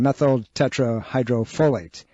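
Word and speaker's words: methyltetrahydrofolate: It's pronounced, give me a second, methyl tetrahydrofolate.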